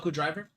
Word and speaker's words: Michinoku Driver: it, the min Mikino driver, I think I'm pronouncing that wrong. Michinoku Driver.